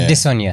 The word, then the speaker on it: Adesanya: Like Yoruba, you have to sing the tone. It's a tonal language, so you have to sing it. Adesanya. Here we go. Yeah. Adesanya.